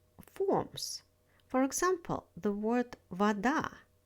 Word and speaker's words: вода: For example, the word вода. У меня есть вода. I have water. In the word вода, stress falls on the second syllable.